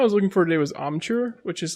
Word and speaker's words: amchur: I first went to, the one I was looking for today was amchur, which is like a spice that's made of unripened mangoes that are dried and then ground into a powder.